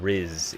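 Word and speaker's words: rizz: actually said it so RZ is charisma it's the middle syllable of Charisma is what Riz is as you know I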